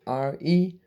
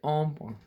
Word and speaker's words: hombre: It's Hombre, and you don't say hombre or hombre. You say ombre.